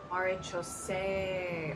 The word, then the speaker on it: Maréchaussée: Maréchaussée.